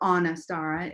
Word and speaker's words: Anistara: So the name Anistara, or Anistara, as I'm starting to learn is the pronunciation.